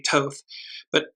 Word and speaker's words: Thoth: It's the red ibis that was associated with, I pronounce it as Thoth, it may be Toth, and you note that there's what looks like either a mountain or a pyramid in the far back.